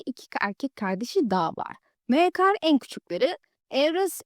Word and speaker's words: Maekar: Bu arada esiminin telaffuzunu hiç beğenmedim. Mikar falan diyor. Bu sebeple kendi telaffuzuma devam edeceğim.